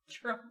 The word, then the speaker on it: Trump: Trump. What? What's that extra? He puts a D. You're putting a whole syllable at the end of it, too. It's Trump.